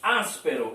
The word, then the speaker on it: áspero: E áspero, a sílaba mais forte está aqui, as. Né? Áspero, as é pronunciada com mais força.